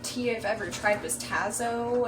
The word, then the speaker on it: Tazo: I've ever tried was Tazo. I think that's how it's pronounced, like T-A-Z-O.